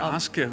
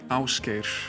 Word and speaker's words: Ásgeir: Oh, just to double check, so it's Ásgeir, that's the proper pronunciation. Yeah, Ásgeir, that sounds good. That's Back good. home we say Ásgeir. Ásgeir.